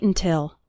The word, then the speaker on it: until: When speaking fast, the first syllable of until is barely pronounced. Listen to it again. Don't wait until.